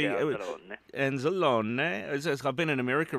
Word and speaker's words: Anzalone: Anzalone. Is that how you say it? Mm-hmm. Yeah, G. Yeah, Anzalone.